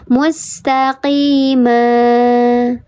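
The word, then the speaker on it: مستقيما: Mustaqima ma. Jangan direm. Ma ma jangan direm karena dia tidak ada hamzah. Kecuali kalau tadi ini di sini fisama. Nah di sana baru direm karena dia ada hamzah.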